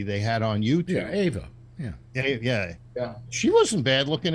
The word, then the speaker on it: Eva: Ava, they pronounced it, yeah. And it might be Oh, how. It's spelled Eva, but I think Okay. they always pronounced it Ava.